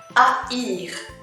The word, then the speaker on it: haïr: Haïr, haïr, haïr. Haïr. And the H letter in French is silent as well, so it's like saying, pronouncing 3 letters.